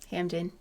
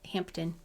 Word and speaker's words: Hampden: in your hampton yeah hampden is not hampton uh we just left the p out in connecticut i'm supposed to i